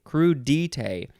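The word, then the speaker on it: crudités: and it's also dite crudite but there's no emphasis on any syllable as far as i can tell it's just crew detail all the same emphasis anyway it is spelled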